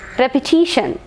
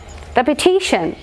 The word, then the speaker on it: repetition: here education education and repetition repetition so repetition n is the last syllable so penultimate syllable repetition repetition so this is how